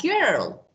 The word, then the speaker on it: girl: For example, about this rule, we have exception like girl, okay? That is followed by I, but it sounds G. It's hard G, okay?